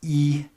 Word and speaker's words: И: And then the backwards N is pronounced E, and it means and if it's by itself.